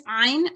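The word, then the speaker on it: ع: So you see this ayn, how do you pronounce that? Ayn. This, yeah, so it has to be slightly tightened and slightly sort of strong.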